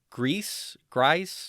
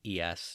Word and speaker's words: Gries: I believe his name is John Grice. It's Gries. So however you want to pronounce that.